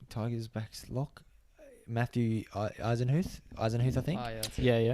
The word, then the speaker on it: Eisenhuth: Matthew Eisenhuth, I think.